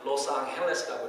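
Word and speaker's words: Los Ángeles: 스페인어로 로스앙헬레스라고 이렇게 해야지 이게 본토 발음입니다.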